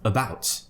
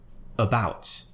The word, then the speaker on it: about: a copy after me so let's try it at the beginning of words first just so that we can understand how to join from the sound into consonants for example about about so as you can